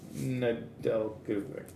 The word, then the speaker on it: Nedeljkovic: I never say his name right. Alex Nedeljkovic. With a silent J.